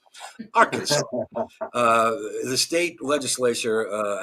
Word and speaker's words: Arkansas: It must be pronounced Arkansas, not our Kansas. Arkansas.